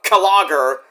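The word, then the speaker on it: Klogr: Uh, they're a band called Kagger. K L O G R, but it's pronounced Kager.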